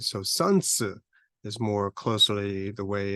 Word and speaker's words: Sun Tzu: Sun Wu but is a title right so sansu is more closely the way it is pronounced um Confucius that we say in English